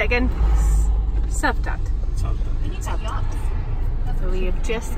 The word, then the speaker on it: Cavtat: Cavtat.